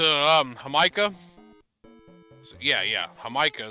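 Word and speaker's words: jamaica: hamika so yeah yeah hamika is how you pronounce it i know what the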